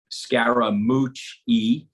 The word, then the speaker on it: Scaramucci: was your nickname so I have four syllables of my last name it's Scara mooch e so he was calling